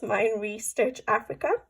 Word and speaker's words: Meine Reise Durch Afrika: I know no German, but I think it's Meine, Reise, Durch, Afrika.